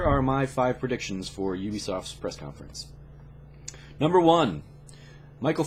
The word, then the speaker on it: Ubisoft: brings us up to Ubisoft or who be soft depending on which way you want to present pronounce it I'm gonna go Ubisoft for ubiquitous software so Ubisoft always does